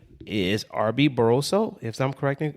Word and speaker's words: Arby Barroso: His name is Arby-Barraso, if I'm pronounce it correctly.